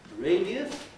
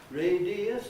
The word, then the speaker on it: radius: You can say radius, radius, 3 syllables, or radius, 2 syllables, radius, radius.